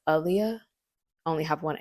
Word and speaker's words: Aaliyah: And it's Aaliyah, not Aleeah. So, my name is pronounced Aaliyah. Only have one A. And I think Aaliyah's actually had interviews where she's like, "It's Aaliyah, like Muhammad Ali."